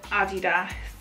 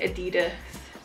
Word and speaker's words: Adidas: way around it is I think English people say Adidas Americans say Adidas cuz of Run DMC right they were like don't touch my Adidas whereas UK people like Adidas so if I ever run